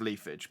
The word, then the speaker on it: Leafage: calling it i'm pronouncing i know it's probably pronounced leafage but um it's funnier to me to pronounce it lee fargo roost aerial ace times you've seen that you